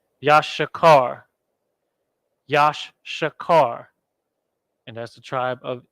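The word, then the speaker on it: יששכר: in come on now Yash boom Yash Shah now we have car boom it's like that yashikar and that's the tribe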